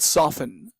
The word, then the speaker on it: soften: plus en we get softened okay don't forget that here the T is silent we don't say soft